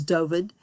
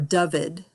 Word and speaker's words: Dyfed: The way you pronounce this word that you're seeing here, this Welsh word, is Dyfed, or Dyfed, I guess is probably more accurate, Dyfed.